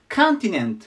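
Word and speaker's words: continent: カンて読みますでコンティネントて言いますコンティネントでここもアクセントが大事でここに行きますコンティネントですねで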